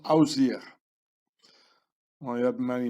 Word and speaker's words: Osiris: The name of Osiris was pronounced Ausir.